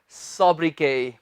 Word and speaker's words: sobriquet: सोब्रिकेट नहीं, सोब्रिके। इसमें हम टी नहीं प्रोनाउंस करेंगे, ये है सोब्रिके। बताएं क्या होता है सोब्रिके।